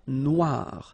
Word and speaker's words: noir: then here la mer noir same thing here that we had previously final not pronounced. Okay. And then o e remember wa noir noir la noir.